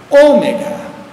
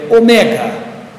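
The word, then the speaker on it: ωμέγα: E a última letra, ômega, nós falamos em português ômega, mas a pronúncia, não é omega. Omega, quer dizer, o grande, o longo, o de dois tempos, omega, que seria a letra O na palavra hora.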